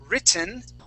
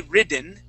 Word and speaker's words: written: we have the word written okay that's pronounced two ways we do not say ridden we say either written with a t sound or written written and